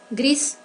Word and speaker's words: gris: Gris. Gris pour les masculins et grise pour les féminins. La prononciation c'est différente. Pour les masculins, no pronunciamos la S, gris.